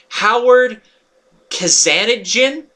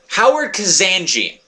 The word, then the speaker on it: Howard Kazanjian: last name is impossible that pronounced Howard Kazanjian cuz Howard Kazanjian that's how you say his name so get that out all right all right now Howard Kazanjian impossible for a while for